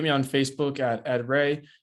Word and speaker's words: Reay: on facebook at ed ray e d r e a y um last name pronounced ray like stingray um and you find